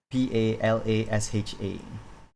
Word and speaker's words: Palasha: my name's palasha palasha palasha how do you spell that p a l a s h a palasha posha that is also a beautiful name